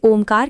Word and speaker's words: ओम: उसके उच्चारण का स्वरूप समझाते हुए ओ शब्द के आगे 3 का अंक लिखा जाता है। तदुपरांत आधा म लिखते हैं। 3 का अंक लिखने का अर्थ है उसे अपेक्षाकृत अधिक जोर से बोला जाए।